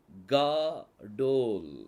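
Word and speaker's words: גדול: இருக்குது புள்ளி இருக்குது புள்ளி இருந்தா இது என்னது ஸ்ட்ராங்கா உச்சரிக்கணும் க ஓகே அடுத்தது தலத் அப்புறம் வாவுக்கு மேல புள்ளி அப்புறம் லேமட் இது வந்து கா டோல் காடோல் அப்படின்னு சொல்லி வரும் காதோல் அப்படின்னு சொன்னா அதுக்கு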